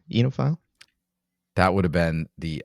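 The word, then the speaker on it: oenophile: right it's a weird it's a weird looking word and it's not pronounced the way it's spelled but yep you know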